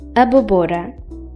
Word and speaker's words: abóbora: Without it, this word would be pronounced as abóbora. But with it, the O is pronounced more openly, like abóbora.